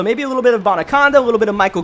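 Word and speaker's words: Abanikanda: And a nice little gain afterwards as a Banakanda with the run, and Israel Bonaconda, boy, that's how you actually say his name, Bonaconda.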